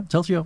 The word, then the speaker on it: Telzio: uh T they say it right T yeah telio yeah what what's the what's the meaning of